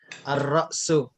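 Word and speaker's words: الرأس: Lamnya jangan lamnya tidak dibaca. Jadi dibaca ar-ra'su.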